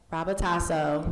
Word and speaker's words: Rabutaso: How do you pronounce it? Rabutaso.